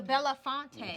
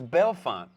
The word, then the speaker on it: Bellefonte: the Bell font the bellafonte she's still gonna not like you're gonna keep mispronouncing this huh yeah it's belfon I know I said that but you said Bella fonte the Bellefonte yeah exactly